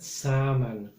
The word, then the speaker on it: salmon: another side and later which letter is silent salmon tuna the same as